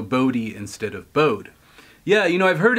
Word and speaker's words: Bode: Brandon says it's in hard II at the end of bowed to syllables rhymes with grody so bode instead of bode yeah you know I've